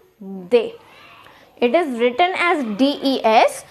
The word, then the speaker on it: des: Now here the S is silent, so it will be pronounced as they.